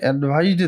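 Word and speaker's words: advice: অ্যাডভাইস সি, saw sound.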